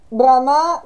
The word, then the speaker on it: Brahma: Brahma con la lunga sulla A, finito con, uno dice la A finale, un po' con l'accento sulla A, l'ultima A, è il demiurgo, l'architetto di questo particolare universo.